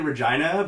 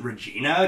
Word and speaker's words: Regina: I was growing up I always pronounced it Richie no because like that name made more sense to me but according to the death just like he's this apparently it's Regina so I've never heard